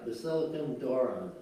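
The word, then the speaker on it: Basilikon Doron: Free Monarchs, and I need help on the pronunciation on this one. Basilicon Dorna or Dorn? Doron, right? Yeah. Basilican Dornan, right? Yeah, Basilicon Doron.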